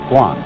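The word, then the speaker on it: 觀: that means seeing and the whole character is pronounced Guan and it means a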